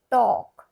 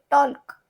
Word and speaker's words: talk: टॉक, TALK, टॉक। यहाँ पे टॉल्क ऐसा नहीं होगा, ल साइलेंट हो जाएगा। टॉ, TA, टॉ, L, K, टॉक। L क्या होगा? साइलेंट, उसका प्रोनाउंसिएशन नहीं होगा।